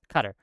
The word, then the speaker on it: Qatar: Yeah, Qatar. You pronounced it right. I was pronouncing it wrong. My bad. Qatar. I've heard it both. I've heard it both ways.